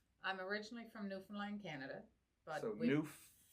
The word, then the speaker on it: Newfoundland: I'm originally from Newfoundland, Canada, but No. If you can say understand, you can say Newfoundland. Newfoundland.